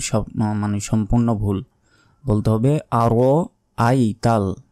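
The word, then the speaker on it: أَرَأَيْتَ: দেখুন একটা শব্দ শব্দ একটাই, কিন্তু মাঝখানের এই হামজার উচ্চারণ আমরা করি না, বলি যে আরাইতা। আরাইতা বললে যে মাঝখানের যে হামজা জবর আ আছে এটার উচ্চারণ কিন্তু বাদ পড়ে গেল, তখন আমাদের অর্থ পরিবর্তন হয়ে যাবে, তখন আমাদের গুনাহ হবে।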